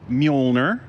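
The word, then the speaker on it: Mjölnir: I don't even know how to pronounce m j o l n i r what do you how do you say that mner and what is mner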